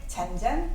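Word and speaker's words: 戔戔: 근데 속백 전전이라고 읽으셔도 되고요. 잔잔이라고 읽으셔도 돼요. 자, 비유 구원, 속백, 잔잔, 민종길이라고 얘기했어요.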